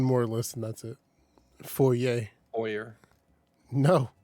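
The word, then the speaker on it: faux: you ready ready ready how do you say i'm a spell it f a u x fo okay james oppa okay all right you gotta finish it off because so many people say fox and i was like it's fo bro how do you spell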